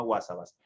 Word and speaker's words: Huásabas: sierra de sonora que se llama huásabas se escribe con h muy probablemente no lo